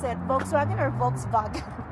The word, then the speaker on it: Volkswagen: Volkswagen or Volkswagen? Uh it's like an F Volkswagen I think.